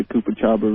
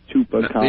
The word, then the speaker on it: chupacabra: local news that they were showing that they think the Koopa Chabra really did it. That's the Chupa Cababra. Chupacabra. It is my mission in life to teach people how to pronounce that.